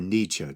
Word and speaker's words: Nietzsche: like nietzsche too uh nietzsche or nietzsche tomato tomato i actually think nietzsche is the more correct uh germanic pronunciation anyway that when you force